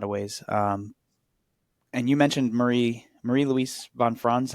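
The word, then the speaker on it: Marie-Louise von Franz: And you mentioned Marie Louise von Franz, how you say it, correct?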